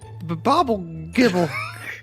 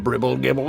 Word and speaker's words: Bribble Gibble: have to vote for Bobble Gibble. Now, do you mean Mr. Bribble Gibble here? Because you gotta say it right.